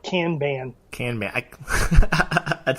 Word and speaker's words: Kanban: B ay n methodologies well it's actually Kanban but for most of us in America we just call it Kanban can Mac it sounds very Midwest Kanban do you have do